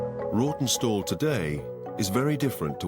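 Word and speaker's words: Rawtenstall: Here is Rotten Stall. It should be pronounced Rotten Stall. It's R A W T E N. Stall, but locals pronounce it Rotten Stall.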